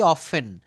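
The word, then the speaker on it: often: একটা শব্দ লিখে থাকি অফেন ও এফ এখানে আমি লিখলাম ও এফটিই এন হ্যা এই দেখেন এটা কিন্তু এখানে টিটা সাইলেন্ট করে বলতে হবে এটা হবে অফেন অফেন এখানে অবটেইন ঠিক আছে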